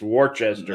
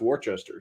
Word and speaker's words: Worcester: or worcester but it's warchester that's western you go down to maryland and only you know a couple hundred miles away and it is actually pronounced warchester so yeah so um